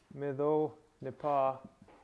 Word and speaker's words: nīhithaw: Because your stress stays, this is still a two-syllable word, and this is a two-syllable preverb, so your stress is on the last syllable.